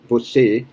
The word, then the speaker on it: você: So você is for you more common, você, and pay attention to the e at the end, because on that same page in the book, you're going to have a difference between e and e.